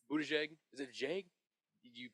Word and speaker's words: Buttigieg: Pete Buttigieg. Buttigieg. Is it Jag? you pronounce the Pete last Buttigieg is what I pronounce it.